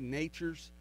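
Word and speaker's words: Nachurs: know when we say Nature's uh fertilizer it's not it's not pronounced how you think it is it's n a c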